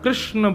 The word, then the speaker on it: कृष्णा: कहा करते हैं कि भगवान भगवान का नाम उच्चारण करना है तो कृष्ण बोलो कृष्ण और यदि द्रोपदी का उच्चारण करना है तो कृष्णा बोलो अकार आ की मात्रा लगाओ संपूर्ण महाभारत के पात्रों